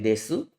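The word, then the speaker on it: です: adalah kalimat formal kemudian akhiran u pada su itu tidak dibaca teman-teman jadi seperti nomimasu tulisnya Tapi bacanya nomimas jadi u akhiran pada hiragana seperti desu itu tidak dibaca unya Jadi dibacanya itu Des Ya jadi kalau kita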